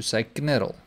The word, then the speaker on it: knurl: pronounce the k and the K is meant to be silent so but there's I don't know if I have some sort of an OCD problem but I keep on wanting to knar because that is how